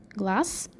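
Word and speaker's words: глаз: difference in the ending you pronounce with s glass and you write with zed glass the next word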